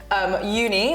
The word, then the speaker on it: Youni: My company, so Uni, which is spelled Y-O-U-N-I, so it's like you, the personal side of university.